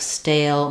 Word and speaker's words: stale: We can see, even though we spell it with A and E at the end, letter E at the end of stale makes A say its name, like letter A.